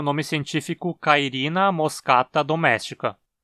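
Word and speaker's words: moschata: da América do Sul em moscata a penúltima sílaba cá também tem uma vogal longa então é paroxítona também esse ataque é um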